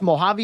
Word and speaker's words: Mojave: in administration as a principal at is it pronounced Mojave High School in Hisperia yeah yeah Mojave yeah yeah okay okay um and uh yeah